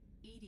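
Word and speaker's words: EDI: Ed is the pronunciation of EI.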